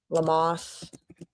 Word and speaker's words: Lammas: Or it's spelled Lammas, but it's pronounced differently. Okay. Lamos.